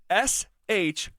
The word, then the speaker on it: Shough: The spelling of that, like think of the word rough. ROUGH. It's the same thing. It's just SHOUGH.